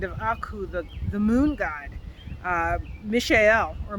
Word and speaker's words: Mishael: Mishael, or Michael, depending on how you want to pronounce it, but Mishael, who is what God is.